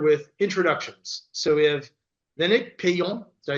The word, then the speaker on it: Lénaïc Peillon: So we have Lénaïc Peillon.